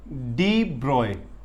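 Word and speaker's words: de Broglie: डी ब्रॉय पढ़ने में लिखा जाता है इसको डी ब्रॉगली, लेकिन एक्चुअल में इसकी एग्जैक्ट प्रोनाउंसिएशन क्या है? डी ब्रॉय।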